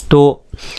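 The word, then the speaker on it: تے: दोस्तों इसको बोलेंगे हम ते, तो इसका प्रोनाउंसिएशन होगा ते, और हिंदी में जो इसका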